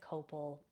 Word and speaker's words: copal: Like I always burn like copal resin. Some people pronounce it copal, but I burn that resin when one of